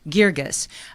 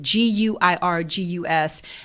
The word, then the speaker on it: Guirgis: Guirgis. And if you've never seen any of his plays, just Google him, Stephen Adly, Guirgus, and you will know why you should come out and see this play.